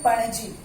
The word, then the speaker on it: पणजी: इसका प्रोनाउंसिएशन है पणजी.